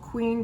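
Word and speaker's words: QVEEN: you see it like i said it's called queen but it's spelled q-v-e-q-v-e-e-n so really really impressed with this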